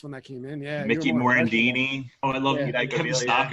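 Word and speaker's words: Morandini: that came in yeah mourandini oh i love you thank you stalker love kevin stocker he said his name wrong morendini correct that's the correct way of pronouncing everything yeah every syllable i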